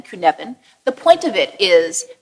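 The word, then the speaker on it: Cynefin: a model called the kunan model he's Welsh so that's spelled exactly differently than you think it's c y NE f n Kevan the point of it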